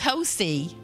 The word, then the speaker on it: Hosea: It is Hosea. And we thought it was Hosea, you know, because it was spelled that way.